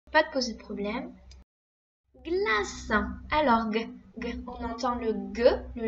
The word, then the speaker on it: glace: Rappelle-toi, le C, quand il est devant le E ou le I, hein, il se prononce S. Il fait que dans Caroline, mais il fait ce dans glace.